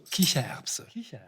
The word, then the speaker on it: Kichererbse: En Allemagne, on s'amuse beaucoup de son nom, Kichererbse, le pois, Erbse, qui fait rire ou qui glousse, Kicher.